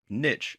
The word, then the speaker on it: niche: To get started and to do the same, you're going to have to choose the niche, or niche as it's sometimes pronounced, that you want to focus on.